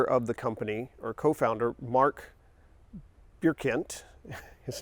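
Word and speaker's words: Marc Birkigt: the original founder of the company or co-founder mark bierkent his name is a little weird and difficult to pronounce it's Mark bierkent he was originally making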